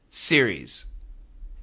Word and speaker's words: series: Series. Two syllables.